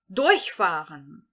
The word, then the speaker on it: durchfahren: Durchfahren. Durchfahren. Durchfahren, que significa passar por. Aqui, nós vamos entonar a primeira sílaba, ou seja, o prefixo deste verbo.